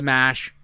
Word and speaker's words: marsh: If they're in Massachusetts, it should be called the Mash.